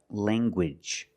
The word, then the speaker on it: language: Let's look at more words where you have ng in the middle and you make the hard g sound like language. Language. You have the nasal sound lang and the hard ganguage.